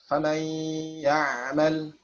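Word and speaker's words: فَمَنْ يَعْمَلْ: Jadi kalau kamil kita bacanya famai ya, nggak ada lagi sifat nunnya ya. Sedangkan naqis adalah menyisakan sifat nunnya ya, atau masih ada nunnya. Famai ya'mal, famai ya, bergetar ya khayshum ya.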